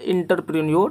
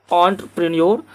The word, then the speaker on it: entrepreneur: जो बिजनेसमैन होते हैं ना, व्यवसायी, उसी को बोलते हैं एंटरप्रेन्योर, जिसको कि हम लोग बिहार में बोलते हैं इंटरप्रेन्योर। हालांकि इसका शुद्ध उच्चारण क्या है? एंटरप्रेन्योर। तो एंटरप्रेन्योर जो है ना, इसका सही उच्चारण यही है, और इसका जो